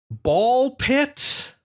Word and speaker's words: Ball x Pit: No, the new game that is spelled ball x pit but is I guess not pronounced like that.